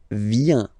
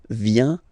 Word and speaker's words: vient: Il, elle, vient. Final T not pronounced. Il vient, elle vient.